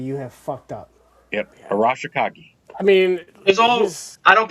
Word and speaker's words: Arashikage: Arashikage. I mean, I don't pronounce things.